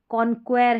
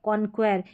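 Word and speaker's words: conquer: फिर देखें कुछ थोड़े शब्दों में क्यू यू का उच्चारण क भी होता है, क भी होता है कुछ थोड़े शब्दों में, तो वो शब्द यहाँ पर दे रखे हैं। ये देखिए कॉन्क्वेर है, कॉन्क्वेर, ये है मॉस्किटो, मॉस्किटो, लीकर है, कॉन्क्वेर।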